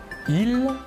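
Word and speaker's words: ils: Tout d'abord, le masculin, il, la S finale ne se prononce pas.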